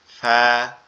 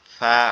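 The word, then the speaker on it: فاء: এটার উচ্চারণটাও সহজ, এটা হচ্ছে ফা, ফা। আমাদের উপরের দুই দাঁত নিচের ঠোঁটের এই পেট অর্থাৎ এই অংশটার সাথে লাগবে, লেগে উচ্চারিত হবে ফা, ফা, ফা, এরকম ভাবে।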